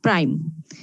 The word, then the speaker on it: prime: এই যে দেখো 3 এবং 5 এর মাথার উপরে একটা ছোট্ট করে ড্যাশ আছে, এটার উচ্চারণ হচ্ছে প্রাইম।